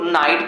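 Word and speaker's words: knight: क्यों मतलब कैसे इसे स्पेलिंग लिखी रहती है के एन आई जी ह टी अब हम लोग शुरू करके पढ़ते नहीं करते हैं इसको हम लोग नाइट पढ़ते हैं काफी जगह पे ऐसे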